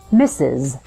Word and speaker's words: Mrs.: it sounds like this mrs. so the pronunciation is exactly the same as the word mrs. as in he misses you when you're away the first s sound